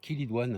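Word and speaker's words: chélidoine: Allez, un petit clin d'œil à ma copine Rose, qui m'a fait découvrir hein, la semaine dernière la chilidoine, hein, qu'on prononce chilidoine.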